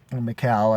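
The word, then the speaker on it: Mikael: Can't remember that we were rehearsing much in that Mikal, I think is how you're supposed to pronounce it in Swedish.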